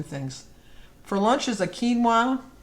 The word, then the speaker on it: quinoa: for lunch is a quinoa see i said it right quinoa q-u-i-n-o-a i think it's kiwa i always mess up that a kiwa bowl